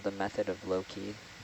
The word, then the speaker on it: loci: It's It's called the method of Loki. Loki. Loci. Yeah. Loi. Aloi. No, it's it's Latin, so it's a hard C.